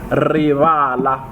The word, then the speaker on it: rivala: And then there is rivala. So rivala, right? There's an emphasis on the first ri, on the ri. Rivala.